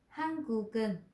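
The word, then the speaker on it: 한국인: ví dụ như là Hangukin. À, thì chỗ này chúng ta sẽ đọc là Hangu và giống như chữ kinh. Hangukin bom yeoreum gaeun geul. Chứ không có là cơ un nha.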